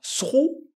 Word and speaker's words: through: Le son de la fin, ça sera OU, tout simplement. Mais le THR, c'est lui qui va compliquer un peu les choses. Est-ce qu'on dira through?